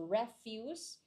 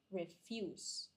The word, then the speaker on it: refuse: know the pronunciation difference usually the verb is the stret stressing is here in the second syllable if it's a verb and then the stressing is in the first syllable if it's a noun so refuse refuse what